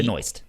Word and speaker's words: Benoist: I don't know how to say her last name, Benoit or No, it's- she- Benoist? She at least pronounces it like as Benoist without the T. Benoist.